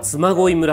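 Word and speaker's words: 嬬恋村: 妻恋村って読むんですっ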